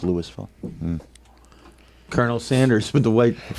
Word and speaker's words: Louisville: Coos and Notre Dame Louisville and Louisville it's pronounced Louisville Colonel Sanders with the white college football you